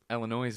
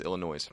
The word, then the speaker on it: Illinois: I have a weakness you're saying the state's name wrong it's Illinois it's not Illinois Illinois and I have a